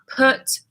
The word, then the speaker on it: put: quite good question actually cut it's an AA put put yeah like bull yeah cut ah yeah